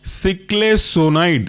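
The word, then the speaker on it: ciclesonide: Last example है आपका सिक्लेसोनाइड, सिक्ले CICLE सिक्ले और सोनाइड पहले के जैसा ही है SONIDE।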